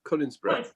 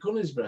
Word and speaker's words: Conisbrough: Cunningsborough. Conisborough. Cunningsborough. It's Cunnings. Conisborough. It's spelled C-O-N, not C-U-N.